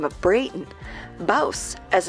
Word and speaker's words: Bouse: As you can see, we're in Bouse, rhymes with house, checking out this old western town.